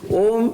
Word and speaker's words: Om: of totality of existence ohm is a combination of three sound systems ah-hoo and mah eyes pronounced with open my vocal cords open MA is closed and who is being between so all the human